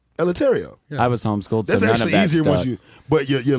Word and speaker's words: Eleuterio: Alvarez I remember letario is it lataria no it's not lataria military yeah let me spell it for you e l e u t e r i o latario i was homeschool but